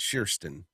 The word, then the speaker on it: Kirsten: She's trying to tell me how to pronounce Kirsten is how you pronounce it, Kirsten.